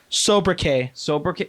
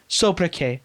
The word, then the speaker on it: sobriquet: Sobriquet. Wow. Sobriquet. What's with the T at the end of that?